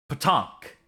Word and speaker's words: PaTaank: PaTaank is how it's pronounced. It's pronounced PaTaank. It's the onomatopoeia for the sound a pinball or puck makes when it's hitting a surface. So it's not.